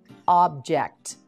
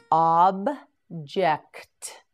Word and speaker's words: object: in English let's begin object object object say it with me object yes again object yes one more time object that's correct object has two pronunciations and several meanings object means something that